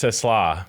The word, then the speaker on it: TeSlaa: It's TeSlaa. But, I mean, I could mix up the pronunciation a little bit, just get the car. TeSlaa. TeSlaa, yeah. It's like te with slaw on the end.